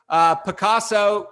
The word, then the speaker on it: Pacaso: So PACASO, and it's pronounced like most Americans anyway, pronounce Pablo Picasso, the artist.